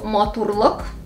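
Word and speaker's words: матурлык: Change it to maturluk. The beauty. Bam! Again, the stress shifts to the last syllable. Luk. Maturluk.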